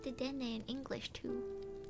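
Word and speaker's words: デデンネ: あ、こんばんは。いらっしゃい。そういえばお名前韓国語だから読めないんだけど、お名前どうやって読めばいいんですか？ちょっと Google 翻訳で調べてみますわ。この韓国語なんて読めばいいのか。よいしょ。これはででんね。あー、はい。ででんねさん。はい。ででんねさんいらっしゃい。あ、そっか。ポケモンか。はい。ででんね。そっか。ででんねって言うんだ、このポケモン。そっか。私、英語しかわかんなかったから。そうなんだ。ででんね。はい。ででんねさんいらっしゃい。今日は ASMR 雑談やってます。今日は音楽とともに焚き火の音も楽しめますよ。ライチュウじゃないよね。It's not ライチュウ it's ででんね。Wait, what's ででんね again?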